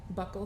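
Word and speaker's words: buccal: DNA you first tried Buckle swabs yes okay I learned today they're pronounced Buckle not bu um but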